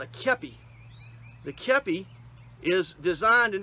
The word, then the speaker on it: kepi: It's K-E-P-I, pronounced kepi, and it is a designed, like I said, from the French, and it was a useful military hat of its era.